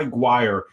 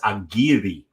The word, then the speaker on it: Aguirre: And he told me, no, man, it's not Aguirre, it's Aguirre. And that is how you pronounce that young man's name.